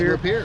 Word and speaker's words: Lapeer: We're here at Lapeer. Is that how you say it? That's right, Lapeer. Lapeer, Michigan.